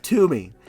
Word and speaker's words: Toomey: And the character is Toomey. And they set aside to Toomey, Tomb rhymes with doom.